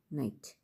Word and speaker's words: knight: you know about night that is k-n-i-g-h-t night not an idht right pronunciations are same but meanings are different